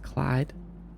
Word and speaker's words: Cluade: Pronounced Clyde. Clyde. That's a cool way to spell Clyde.